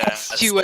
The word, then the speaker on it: tempestuous: So tempest is like a Tempestuous. storm, so it's tempestuous.